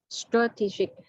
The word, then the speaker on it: strategic: Hết âm ti rồi. Trọng âm rơi vào âm ti à em?